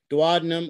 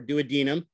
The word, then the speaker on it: duodenum: is the proximal part duodenum or duodenum both are acceptable ways of defin of pronouncing it